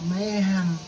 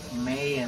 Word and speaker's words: Mayhem: el especial 40 aniversario de Mayhem o Mayhem, porque hay quienes lo pronuncian con la H así muy tenue, y los noruegos especialmente, y ahí les doy el dato, señoras y señores, que les gusta esta banda. Mayhem es la pronunciación, digámoslo así, del idioma inglés coloquial, o sea, no J. Y la pronunciación de los noruegos es Mayhem, así, completamente con la H muda.